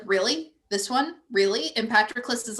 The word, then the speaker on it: Patroclus: But Achilles says his name in the 3 separate syllables. He's really trying to get it right. Patroclus.